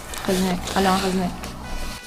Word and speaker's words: Alain Resnais: Tiene que pronunciarlo Melissa, ella es la encargada de un nombre en francés. Alain Resnais.